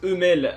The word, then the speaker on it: Hummel: Oui, parce que dans cet épisode ils disent Hummel, alors je vais aussi le prononcer comme ça.